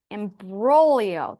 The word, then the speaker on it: imbroglio: Imbroglio. The G is silent. Oh, it's Italian.